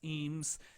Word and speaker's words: Eames: asks me my name e-a-m-e-s eems okay uh not a traditional